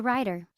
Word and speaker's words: writer: 2, He's a writer. Take a look at this. Writer es escritor y viene de write. Estas palabras aquí, writer, write, la W es muda y solo se dice write.